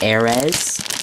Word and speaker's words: Ares: It may seem like it's pronounced Aries, but if you look at like Rock Aries, it's Aries. Well, this is Ares, so it's Ares.